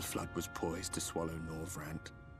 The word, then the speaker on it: Norvrandt: The flood was poised to swallow Norvrandt. Norvrandt, they do pronounce that R in there. I was missing that earlier.